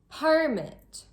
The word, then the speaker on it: permit: Permit or permit.